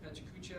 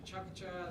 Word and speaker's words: PechaKucha: those things, which is this funny word, or two words called pechakucha. It can be pronounced pachakacha. There's a bunch of different ways to say it, but it basically is a Japanese word for chit-chat.